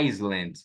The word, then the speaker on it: island: que a gente às vezes a gente sente uma vontade de falar island. E eu não posso falar porque nesse lugar aqui a palavra é muda. A vogal s é muda.